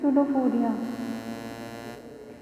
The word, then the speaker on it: pseudopodia: False feet means through which it moves, called as pseudopodia, and in which the P is silent, so the pronunciation is pseudopodia.